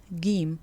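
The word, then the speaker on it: جيم: The letter jim is pronounced gim by most Egyptians. And I have to stress this most bit because, as with any language, there are regional variations. But in Cairo and north of Cairo, it's pronounced ga. In most of the southern parts of Egypt, it's pronounced ja.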